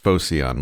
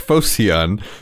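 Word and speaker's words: Phocion: upright way like ocean let's say it's pronounced focion like focian if he wasn't just pretending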